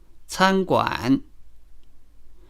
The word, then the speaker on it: 餐馆: For example, 参观 can be pronounced with both syllables in the first tone. 参观 meaning to visit. But it can also mean a restaurant if the second syllable is changed to the third tone, 餐馆.